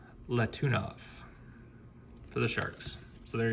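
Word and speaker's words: Letunov: for you new collectors if you don't know how to say their name it actually gives it to you right there la tuna for the sharks so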